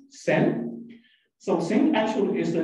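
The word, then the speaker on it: 申: And the reason they choose this name is the right part of this character, like this, is pronounced as Sen.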